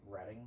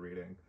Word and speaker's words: Reading: and then uh is Ric uh I it's pronounced reading instead of reading uh Reading Rainbow yes and then Short Line